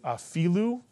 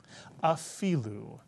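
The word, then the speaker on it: אפילו: So the first syllable would be afi, mitsuyan, afi. And the second syllable, lu, mitsuyan. Put the word together, afilu. And the accent is on the fi, afilu.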